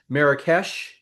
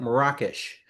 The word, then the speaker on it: Marrakesh: In America, we typically call this city Marrakech, but when I was there, I learned from my Moroccan friend that they call it Marrakesh.